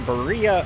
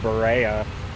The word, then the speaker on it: Berea: Hi everybody, welcome back to Berea, Ohio. I said it correctly this time as I learned the correct pronunciation of the town. I think I was calling it Berea before, but I mean, that's just how Ohio